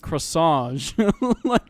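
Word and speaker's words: Cross Ange: That video made me want to watch Cross-Ange because you pronounce it croissant like a croissant or something, but Croissant.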